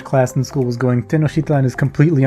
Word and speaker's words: Tenochtitlan: But apparently it's Tenochtitlan, because he pronounced the X's sort of as a sh sound, instead of a k or ch sound.